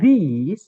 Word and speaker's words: these: Sedangkan untuk these yang pakai E bacanya tapi I ya teman-teman, justru yang I bacanya E. Jadi yang tulisannya pakai E bacanya I, ini nanti benda setelahnya wajib yang bisa dihitung dan harus jamak.